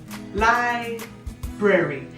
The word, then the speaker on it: library: A se pronuncia como library. Y cuando tengamos esta combinación de A, R y Y, siempre piensen airy, airy, A, R, Y, airy, library.